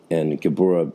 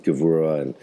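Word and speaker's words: גבורה: don't know Hebrew, and Gebura is how that word was said up until the 20th century, when Hebrew significantly changed and Gebura became pronounced Gevura, and the whole pronunciation system shifted over by a very common linguistic change in consonantal sounds.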